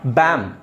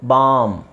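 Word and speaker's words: balm: ಹೇಳ್ತಿವಿ ಅಲ್ಲಿ ಎಲ್ ಇದೆ ಬಿ ಎಲ್ ಎಲ್ ಯಾಕೆ ಹಾಕ್ತಾರೆ ಅಂತ ಹೇಳಿದ್ರೆ ನೀವು ಬರೀ ಬಿ ಎಂ ಬರೀರಿ ಬಿ ಎಂ ಏನಾಗುತ್ತೆ ಬಿ ಎಂ ಏನಾಗುತ್ತೆ ಬ್ಯಾಮ್ ಎಸ್ ಬ್ಯಾಮ್ ಆಗುತ್ತೆ ಬಟ್ ಅಲ್ಲಿ ನಿಮಗೆ ಆಕಾರ ಬರಬೇಕು ಅನ್ನೋ ಕಾರಣಕ್ಕೋಸ್ಕರ ಎಲ್ ಹಾಕೋದು ಅವಾಗ ಏನು ಮಾಡೋದು ಬಾಮ್ okay so this is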